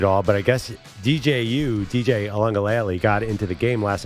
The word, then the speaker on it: Uiagalelei: DJ Uiagalelei? Wait, you guys say it. Uiagalelei, you know? Oh, Uiagalelei? I can't remember. It's He was closer. It's Yeah. not ukulele. Uiagalelei. It's not that.